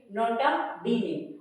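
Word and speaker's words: nota bene: एनबी एनबी भी एक Latin phrase है, लैटिन वर्ड है, जिसे कि बोला जाता है लैटिन में नोटा बीने, और इंग्लिश में इसको प्रोनाउंसिएशन इसकी है नॉट वेल।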